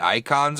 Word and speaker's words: Eikon: I think War of the Icons or something.